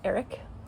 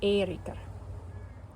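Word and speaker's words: Eiríkr: Of course, you can anglicize it to Eric if you prefer. The way it would have sounded per Common Scandinavian, it would have been Erikr.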